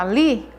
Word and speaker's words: ali: A palavra ali, o li é a sílaba tônica dessa palavra, porque é a que eu pronuncio com mais força, com mais intensidade.